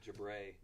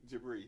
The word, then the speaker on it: Jabri: Like Jabray. Jabri. You were like, it's Jabri. It is Jabri.